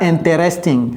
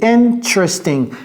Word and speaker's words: interesting: Ne dites pas interesting, ok? C'est interesting. Interesting.